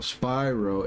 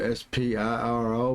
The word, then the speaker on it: Spiro: And uh cuz the town that I grew up on, it's called Spyro. S P I R O.